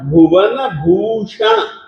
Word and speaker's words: भुवन भूषण: नात भूतम ना भूतम भुवन भूषण भुवन भूषण भुवन भूषण भुवन भूषण क्योंकि इस भ में जो है हरस उ की मात्रा है और भूषण में भी